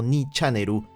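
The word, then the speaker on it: 2ちゃんねる: Frecuenta una página que se convertiría en leyenda en el país, tu Channel o Ni Channeru, para la pronunciación local.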